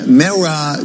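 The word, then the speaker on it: MeRA25: Peres Pakistan did a new political party the Mara 25 renowned singer right he'll correct me returning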